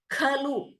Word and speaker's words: खलु: Kritarthaha khalu. Kha is mahaprana.